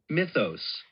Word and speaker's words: mythos: mythos Mitos, not mitos. Mitos. mythos Mitos. mythos Mitos. So, the stress is in the first syllable, right?